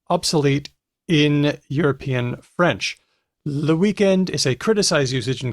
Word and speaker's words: weekend: There is indeed no native French word for weekend other than the English word, which is pronounced weekend or even weekend. There's that omitting the final consonant thing.